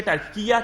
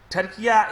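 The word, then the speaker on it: Türkiye: کہ ہمارے ملک کے نام کی پروننسیشن ٹرکی سے ٹرکیہ کیا جائے. وہ کیوں کیا جائے؟ کیونکہ ان کا I read it for you what is said by the president. Turkiya is the best pronunciation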